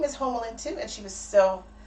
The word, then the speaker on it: Homalyn: Because in Belize, where we have the Caribbean accents, you pronounce Homer, Homa. So it's Homalyn. That's how you actually say it.